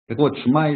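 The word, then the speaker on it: שמע: говорят все знат вот шма Исраэль там первая буква ш а потом ИТ такая главка пошин шма то есть по идее там это шма надо немножко протянуть то есть не просто шма ашма То есть есть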